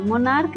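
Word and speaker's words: monarch: मोनार्क, मोनार्क में CH का pronunciation क है तो इसमें सिर्फ S जोड़ेंगे।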